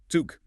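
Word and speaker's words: Zug: Zuk. Hear that sharp t for the z and the long ooh sound for the u.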